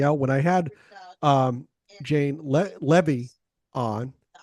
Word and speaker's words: Levy: He helped me out when I had Jane Levy on. It rhymes with heavy, according to her.